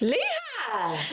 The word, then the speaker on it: Lehi: Lehigh! It's not. I swear on my life. Lehi, as we were saying, is pronounced Lehigh. It's commonly pronounced with a long E sound followed by high. Crumbs. That's Lehigh!